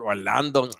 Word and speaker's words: Orlando: Look him up, Orlando, O-R, like Orlando, Florida, but Orlando, they pronounce the A like Orlando Kell.